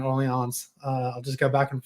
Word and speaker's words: Orleans: i'll vacillate between uh my southern pronunciation orleans and the proper pronunciation early ons i'll just go back